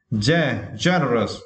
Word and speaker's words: generous: And for this word, yeah, we need to stress the first syllable, right? Generous. Okay, generous.